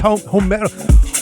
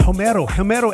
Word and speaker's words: Homero: This is Homero. I always struggle with that because I always say Homer like Homer Simpson, but it's Homero.